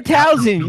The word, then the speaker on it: Towson: Go to Towson. You'd be fantastic. Huh? It's an S, not a Z. No, it's fine. Towson.